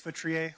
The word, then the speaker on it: Feutrier: Hi, my name is Feutrier. Last name is spelled F as in Frank, E U, T as in Tom, R I E R.